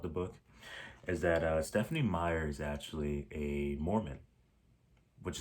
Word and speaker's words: Meyer: So, Twilight by Stephanie Meyer. I think that's how you pronounce her last name. I looked it up and this is Meyer. I was about to say Meir, but it's actually Meyer.